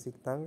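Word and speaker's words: 식당: pakainya yang ini siktang ini dibacanya siktang karena apa Karena di di sini ada pajim kiok bertemu dengan diket nah apabila ini bertemu maka huruf yang berikutnya itu akan dibaca huruf t jadi Bacanya adalah siktang seperti itu Nah ini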